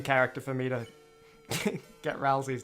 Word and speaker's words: Ralsei: It's pronounced Ralsei. No way, it's Ralsei, not Ralsei. Really? Ralsei. Hey, Ralsei. No, it's gotta be Ralsei.